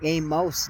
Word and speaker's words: Amos: I always kind of heard it in my head as Amos, like a miss, and that was funny to me. I kind of pronounce it more like Amos now.